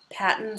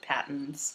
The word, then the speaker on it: Patons: it's going to be Paton or pton however you want to pronounce it I pronounce it patons me too like General Paton yeah P spelled the